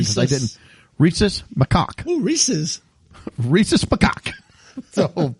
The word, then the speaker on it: Rhesus macaque: But they raise monkeys there, and the monkey is RHESUS MACAQUES. And I looked up the proper pronunciation because I didn't. Rhesus macaque.